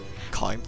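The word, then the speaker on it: Caim: Kime, I'm sorry, I keep saying it. I say it wrong, I've always said it wrong, and you know, habit, I suppose.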